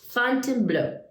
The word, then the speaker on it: Fontainebleau: I'm sorry I can't pronounce the name of my town, but I can. It's called Fontainebleau. Fontainebleau.